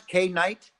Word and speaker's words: K9ite: you show okay great is to pronounce Kay night yes k9k - knowing like a canine ite like why k night and correct so the this